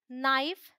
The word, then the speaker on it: knife: K is silent before N, simple है।